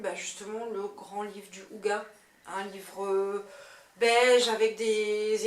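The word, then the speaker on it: hygge: Alors, est-ce que tu peux regarder pour être sûr que je le prononce bien? Parce que entre le ig, le ouge, le ouga, voilà, enfin le truc danois quoi.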